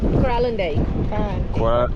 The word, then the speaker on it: Kralendijk: Kralendijk.